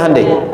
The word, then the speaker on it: Hyundai: Hyundai kan dibacanya Hande ya kan.